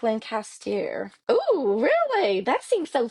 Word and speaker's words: Lancaster: Google how to pronounce Lancaster in Pennsylvania because we all pronounce it wrong. It's more like Lancaster.